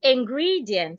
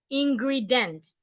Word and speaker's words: ingredient: Ingredient. So it's not ingredient. Ingredient.